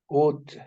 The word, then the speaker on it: would: you read this word would would Bravo the L is silent another example he what